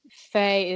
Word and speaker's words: Faye: it's faye music it's spelled a i m double e faye is f-e-e and then music and